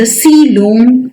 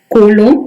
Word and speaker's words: coelom: to discuss is the coelom or the body cavity. Please note the spelling body cavity or coelom. Here O is silent. Okay, so it is not, don't read it as colon, it is coelom.